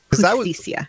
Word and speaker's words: Justicia: The J in Spanish is an H. Justicia.